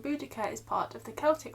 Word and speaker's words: Boudicca: different pronunciations from but most academics now agree on boudicca as they think bodacia was a mis reading of the previous latin text translations and in the celtics it would have been spelt with one c but that wasn't very